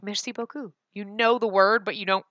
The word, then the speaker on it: beaucoup: in any case merci beaucoup we're in your debt captain I know that one but see there's a P in that word and you don't pronounce us so I'm saying like